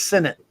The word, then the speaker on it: Sinnott: And I hate when I say Sinnott because you're not supposed to say that, but it's a habit. It's Sinnott.